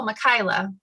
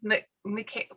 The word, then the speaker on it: Michaela: and they were like oh michaela and i said no mckay okay um janae and